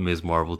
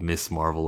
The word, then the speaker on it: Ms. Marvel: I want Ms. Marvel to be a household name where people pronounce it Ms. Marvel instead of Miss Marvel or Mrs. Marvel. It's Ms. Marvel.